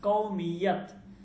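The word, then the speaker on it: قومیت: কেন বলি নাই, কারণ কওমিয়াত এটা মুয়ান্নাস, কওম, ঠিক আছে, এটা জন্য আমি কি বলছি। ওকে, তাহলে বলতেছে যে আপকি কৌমিয়ত, কৌমিয়ত, ঠিক আছে, কৌমিয়ত, কৌমিয়ত। মিয়াত উচ্চারণটা কওমিয়াত। आपकी কওমিয়াত क्या है, আপনার জাতীয়তা কি?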